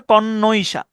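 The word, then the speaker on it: connoisseur: হচ্ছে ডাবলই কমমিটি ওকে কনইশা উচ্চারণটা হচ্ছে কণশা কণশাটা টা হচ্ছে মূলত ওই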